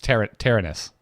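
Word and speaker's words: Terenas: Yeah, it's Tyrannus.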